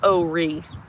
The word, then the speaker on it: Horry: It's pronounced Horry, to be honest.